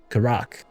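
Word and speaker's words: Karach: Okay, the stress is on the second syllable. Karak.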